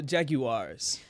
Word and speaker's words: Jaguar: Next up, Jacksonville Jaguars. Oh, the Jaguars. I can't say Jaguars correctly either. How do you say it? It's elegant. Jaguar. Jaguar? Mm-hmm. Like the commercial.